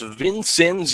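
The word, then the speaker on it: Vincennes: in two strikes vinc it's actually pronounced vincen University correction on that one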